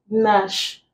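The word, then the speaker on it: gnash: We have Nash. The G is silent, leaving us with N sound.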